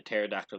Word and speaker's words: pterodactyl: couldn't you hear the pterodactyl going to the bathroom because he's dead because it's extinct and the p is silent my goodness I memorized